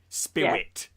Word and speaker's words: SPIWIT: It's spelled SPIWIT. Spirit.